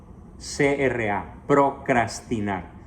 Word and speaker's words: procrastinar: P-R-O-C-R-A, procrastinar, que traducido al lenguaje común y corriente quiere decir dejar para mañana lo que conviene hacer hoy mismo. Les ruego entonces no procrastinar. Algunos dicen erróneamente procrastinar, pero no.